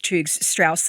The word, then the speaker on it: Churg-Strauss: Okay, talk to me about being diagnosed with Churg-Strauss syndrome.